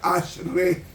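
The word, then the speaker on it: אשרי: bienaventurado Quiénes son ese ese bienaventurado que se pronuncia Ash re en el hebreo es el Ash re significa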